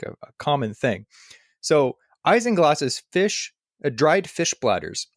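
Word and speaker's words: isinglass: how to pronounce it because it's not spelled the way you'd think so I looked up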